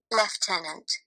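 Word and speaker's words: lieutenant: that and what about those words that look absolutely nothing like the way they are supposed to be pronounced leftenant yep that's the stuff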